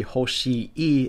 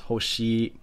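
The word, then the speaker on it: ほしい: In Japan, when you stack words of the same sound, it just elongates the sound. So this wouldn't be hoshi e, it's just hoshi.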